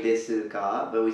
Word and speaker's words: desu: So let's note please the pronunciation of su at the end. As you see, the u hasn't been pronounced here. The u wasn't pronounced.